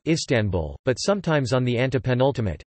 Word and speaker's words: Istanbul: Proper names are usually accented on the penultimate syllable as in istanbu, Istanbul, but sometimes on the